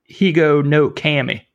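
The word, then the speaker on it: Higonokami: This one has a couple of pronunciations, the Higa no Kami. I've heard it Higo no Kami, which I don't really like too well, but it's another way of saying it.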